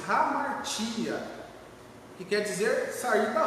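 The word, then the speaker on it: ἁμαρτία: A palavra pecado no grego, ela pronuncia-se hamartia, que quer dizer sair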